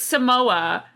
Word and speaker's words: Samoa: Yeah, skinny mints, or it's Samoa, like the food. No, like the people. Yeah, it's not Samosa.